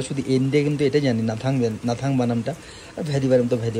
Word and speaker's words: Gnathang: এন্ডে কিন্তু এটাই জানি নাথাং নাথাং বানামটা ভ্যালিভারের মত ভ্যালি হয় কিন্তু নাথাং এ স্পেলিং শুরু হয় জি দিয়ে জিটা সাইলেন্ট থাকে তো একটা অদ্ভুত জিনিস